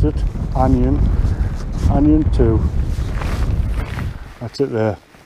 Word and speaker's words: Ajan: the onion i've just been learned how to pronounce it onion onion two that's it there it's first time